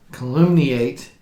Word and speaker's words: calumniate: weapon wherewith they could calumniate this world. And yes, we had to look up how to pronounce calumniate. Yes, as in calumny.